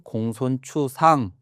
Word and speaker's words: 공손추: 맹자의 제자인데이 글자를 여기서 이제 특징은 요걸 추라고 읽는다는 겁니다. 이게 이제 보통은 자축인묘 할 때 그 띠를 나타내는 그 축 이래서 축으로 많이 읽는데 이거 이제 축으로 읽지 않고 추라고 읽는 것이에 특징입니다.